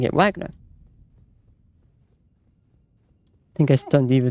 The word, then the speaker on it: Wagner: But objectively speaking, since it is a German name, a German pronouncing it Wagner would be more correct than you pronouncing it Wagner.